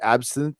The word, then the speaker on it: absinthe: Last time I heard him, he was drinking absinthe. Is that how you say it? Absinthe?